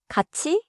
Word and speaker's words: 같이: One small pronunciation tip. 같이 is often pronounced close to in natural speech but write it as 친구하고 같이 가요.